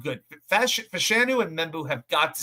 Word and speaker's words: Fashanu: 4 tackles, Fashanu, that's how you pronounce it, Fashanu, Armand Membu, obvious, Chukwuma Okorafor, even though he